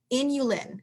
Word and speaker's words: inulin: source of something called and i'm being very careful with how i say it because it sounds like something else inulin which is spelled just like insulin but without the s okay it's a very